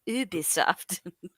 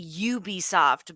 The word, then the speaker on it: Ubisoft: Ubisoft. Oh, how do people... I thought it was Ubi shit. But Yeah, Westerners say Ubisoft, but the French way is Ubisoft.